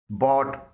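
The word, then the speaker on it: bought: बॉट, यहां पर भी जी एच से पहले यू आया है और जी एच साइलेंट है।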